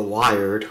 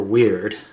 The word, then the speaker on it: Wyrd: It's by Audio and it's called the Wired or Weird Depending on how you want to pronounce it. It's W Y RD.